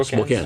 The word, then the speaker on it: Spokane: church, and it's, I don't know how to pronounce it, Spokane. Yeah, Spokane.